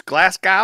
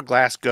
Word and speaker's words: Glasgow: It's Glasgow or Glasgow? Glasgow. Glasgow. Glasgow. We find it very funny when Americans say Glasgow.